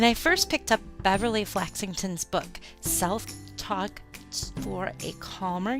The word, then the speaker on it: Flaxington: So, I'm speaking with Beverly Flaxington. Did I say that right? You did. You pronounced it perfectly.